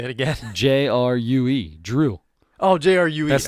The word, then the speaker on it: Jrue: His name is Drew Holiday. So stop calling him Drew, because it's not Drew. No, there's no D in front. It's just a J. Well, so if it's spelled DREU, you say it like the D is a J.